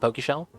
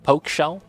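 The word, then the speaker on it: Pokeshell: be that guy but it's not pronounced Pokey shell it's poke like they poke you poke shell I call it Pokey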